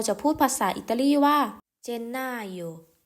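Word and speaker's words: Gennaio: ค่ะ มกราคม เรา จะ พูด ภาษา อิตาลี ว่า เจนนาโย เจนนาโย ก็ คือ เป็น วัน ที่ เฉลิม ฉลอง วัน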